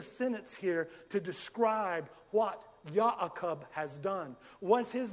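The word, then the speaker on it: יעקב: Now, now guys, in Hebrew, this is Jacob is pronounced YaKob.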